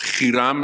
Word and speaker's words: Hiram: Okay, you're talking about Hiram, or Hiram as I would pronounce it, one of the kings of Lebanon.